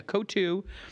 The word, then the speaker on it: Coatue: I think it's Coatue is how you pronounce that, and I know Dan Loeb's. Coatue is how you pronounce it? Yeah, Coatue, yeah.